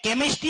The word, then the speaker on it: chemistry: और कभी कभी तो इतना खतरनाक है, CHEMISTRY, केमिस्ट्री है, केमिस्ट्री है, पता ही नहीं पड़ रहा, क्योंकि च के लिए भी क्या होता है।